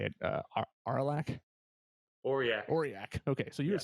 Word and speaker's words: Aurillac: Aurillac.